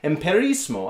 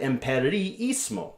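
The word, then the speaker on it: empiriismo: I didn't just say emperismo, I said emperiismo, okay?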